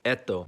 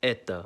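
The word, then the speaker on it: это: You think it would sound like eto, but it's pronounced as eta.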